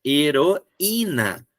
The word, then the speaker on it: heroína: O i tá sozinho. Não é heroína, é heroína.